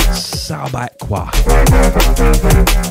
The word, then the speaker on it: Subaqua: Sounded all continental when I pronounced that. Nah, mate, Subaqua.